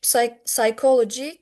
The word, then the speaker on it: psychology: These are pronounced with ch, and chemistry, egg, psychology, character. These are pronounced with k.